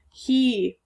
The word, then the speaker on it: he: next word he e again the E is the tricky part it's a long e sound not the a we're used to he he is my friend